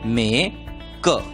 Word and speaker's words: MAKE: एम की आवाज म, ए का नाम ए, के की आवाज क और ई को भूल जाना है, इसलिए शब्द का उच्चारण होगा मे क, मेक।